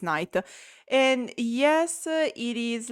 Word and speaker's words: Nayt: I'm talking about prima by night who I thought was pron pronounced Nate. No, it's night.